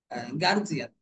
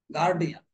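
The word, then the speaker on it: guardian: যেন আমার এটা সবসময় মনে আসে সেটা হলো গার্জিয়ান কি বলে গার্জিয়ান গার্জিয়ান শব্দটা সম্পূর্ণই ভুল উচ্চারণটা হবে গার্ডিয়ান গার্ডিয়ান গার্ডিয়ান যদি বলতে কষ্ট হয় তাহলে ইংরেজি বলার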